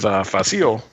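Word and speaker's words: Fasil: And the fight with Facile. That's how you say his name, by the way. Yeah, Facile, the middle-aged guy who played one of the Sand People in the original Star Wars.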